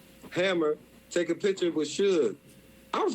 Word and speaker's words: Suge: recorded, but, I remember when I was like, Sugi? He's like, nah, it's Suge, nigga, it's Suge.